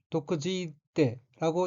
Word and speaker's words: 毒づいて: 둘째 줄 오른편 두 번째 어휘는 한자가 독독자가 들어있고 일본어로는 도쿠지이떼라고 읽으며 도쿠지이떼는 마구 욕설을 퍼붓다, 악담을 하다는 뜻의 타동사인 도쿠지쿠의 태형으로 도쿠지이떼는 거친 악담을 퍼붓고 라는 의미입니다.